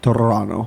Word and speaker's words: Toronto: Toronto. He rolled the R slightly and pronounced the second T.